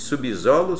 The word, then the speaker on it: subsolo: na palavra subhumano né Tá se depois do sub vier solo ou sala ou sessão eu quero que você pronuncie comigo como é que você diz subsolo subsolo não é automático subsolo subsal sub sessão significa que você não tem coragem de pronunciar o s como se fosse Z O que que eu